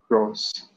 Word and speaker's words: rose: Rose. Rose, Z. Letter S appearing between two vowels, the sound becomes Z, so we say rose.